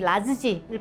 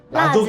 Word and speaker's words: 라즈지: 지역은 말씀드렸듯이 건고추와 화자오의 조합이라서 대표적으로 충칭 음식이 라즈지를 뿌려가지고 그게 이제 그거 스촨이다. 고추 더미. 라조기.